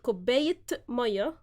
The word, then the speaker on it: كوباية مية: But since it's merged, when we say it, كوباية مية, we pronounce the t sound in the تاء مربوطة.